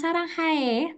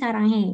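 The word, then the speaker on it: 사랑해: Nah, bacanya jangan saranghae, tapi saranghe gitu ya.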